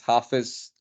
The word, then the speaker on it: Hafiz: I recently realized that the way to pronounce the name is Hafiz and it's actually isn't